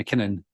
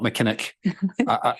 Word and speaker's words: McKinnon: but I would say my name's councelor McKinnon not mckin I'm trying I don't